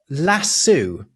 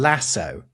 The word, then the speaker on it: lasso: So here's a transatlantic difference in English: lasso and lasso. What? Do you know that we pronounce lasso in English? Why? I honestly, I cannot explain it to you because it does not reflect the Spanish.